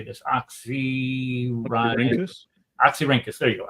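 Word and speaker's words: Oxyrhynchus: at oxy how do you say this oxy oxy ranus there you go oxy ranus oxy ranas um you had two uh uh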